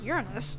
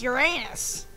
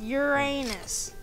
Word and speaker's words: Uranus: Just say it right, okay? Uranus? No, it's Uranus. A... N... I want to see what's in there. Come on. U-S. Uranus. There, see?